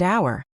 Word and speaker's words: hour: And don't forget words like honest and hour, where the H is silent.